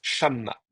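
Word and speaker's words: שָׁמָּה: C'est parce que l'accent reste sur le A, sur le chat. Shamma. Voyez? Et donc, c'est grâce au fait que l'accent reste là sur cette syllabe-là qu'il peut garder son kametz.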